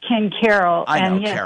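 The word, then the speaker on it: Ken Caryl: and I don't know it's actually pronounced Ken Carol they have they've been ah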